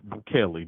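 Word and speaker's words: Bukele: Most of people in Salvador, they love Buchelli. Did I Did I pronounce his name correctly this time?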